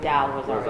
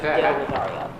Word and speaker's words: Del Rosario: She said you said Zoe Del Rosario. And it's Del Rosario.